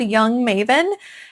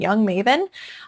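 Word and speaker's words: Jung Maven: It's called Young Maven and that is spelled J.U.N.G. Maven. Young Maven.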